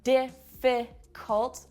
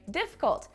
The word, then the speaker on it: difficult: don't even hear them for example in the word difficult i don't say de fe cult i say difficult what happened to that second syllable it's not there when we when we